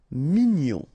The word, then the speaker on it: mignon: E che fâché cruel OK cru cruel actuel actel mignon ok g n o n gnon mignon sour final o together